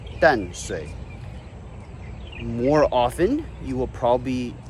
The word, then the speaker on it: Danshui: Tamsui comes from the Taiwanese pronunciation of Tamsui, and Danshui comes from the Mandarin pronunciation of Tansui.